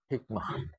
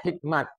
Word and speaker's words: hikmah: peristiwa itu juga disebut Hikmah jemah di Indonesia disatukan hikmah kebijaksanaan jadi kebijaksanaan pun itu arti hikmah cuma cara baca kita Hikmat Hikmat tapi Hikmat hikmah sama jamaah jadi salah satunya nah